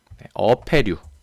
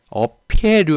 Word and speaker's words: 어패류: 어패류. 그렇죠? 어피해류 아닙니다. 가끔씩 이렇게 발음하시는 분이나 쓰는 분이 있는데 어피해가 있다 할 때는